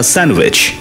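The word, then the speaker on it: sandwich: খাই, এমনি খাই, স্যান্ডউইচ, উচ্চারণটা ডি হয় না, ডিটা উচ্চারণ হবে না, স্যান্ডউইচ না, স্যান্ডউইচ।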